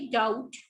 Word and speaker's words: doubt: डाउट, B silent होता है.